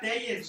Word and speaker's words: Tellez: Tellez, as he looks, loves the fastball. Off speed, not so much. Se pronuncia Telles, güey.